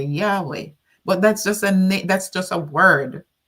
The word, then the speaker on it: Yahweh: So it's just YHWH. So in order to pronounce it in English or in other languages, that's why they added the syllables. Vowels. What am I saying? The vowels, not syllables. The vowels A and E. So we say Yahweh.